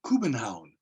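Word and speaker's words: København: in the city of Copenhagen which is actually pronounced Cuban Hound this is one of the plans that I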